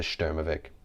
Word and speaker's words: Sturmovik: we call it the sturmovic which even its english uh spelling which you saw in the beginning the s-t-u-r-m-o-v-i-k doesn't even give the proper pronunciation of the stermovic and it was never